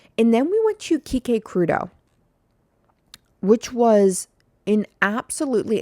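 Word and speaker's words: Quique Crudo: Um, and then we went to Kik Crudeau, which was an absolutely, and now let me spell that for you because I know it's it doesn't it's not spelled the way it sounds.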